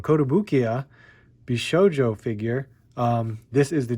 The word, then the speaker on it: Kotobukiya: We have the Kotobukiya, oh my god, I said it wrong, Kotobukiya Bishoujo figure.